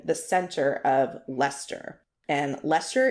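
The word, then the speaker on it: Leicester: center of Lester and Lester is is spelled l e i c s t e r but it's Lester for show okay I believe you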